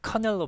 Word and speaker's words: canal: 뭐 커널로 발음하죠.